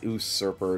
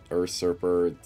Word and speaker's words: usurper: no no I yeah I did say it wrong it's usurper not urer I know I know